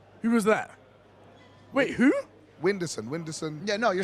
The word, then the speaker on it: Whindersson: Whindersson.